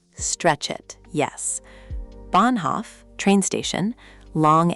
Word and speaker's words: Bahnhof: Take Bahnhof again. It's not Bahnhof, 2 equal beats. It's Bahnhof. Big stress on the first part, the second part shrinks.